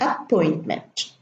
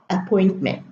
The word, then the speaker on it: appointment: appendix apprehend and appointment some Arab students mispronounced the word appointment don't say appointment they will germinate the P there is no germination in English it should be appointment just one p in the car third